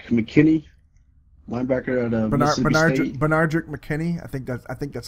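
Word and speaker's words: Benardrick McKinney: Bernardrick McKinney.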